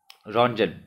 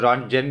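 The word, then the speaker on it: Röntgen: The correct answer is रॉन्टजन। अब कुछ लोग रॉन्ग टर्म भी बोलते हैं, कुछ लोग रॉन्टजन भी बोलते हैं, तो जैसा आपका प्रोनाउंसिएशन हो आप वैसा बोल सकते हैं।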